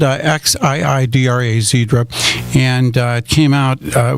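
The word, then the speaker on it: Xiidra: It's spelled Xidra, Zedra, and it came out, it was FDA approved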